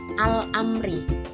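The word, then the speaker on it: الأمر: Al-amri, alnya terbaca dengan jelas karena setelah al ada huruf hamzah, yakni huruf qamariyah.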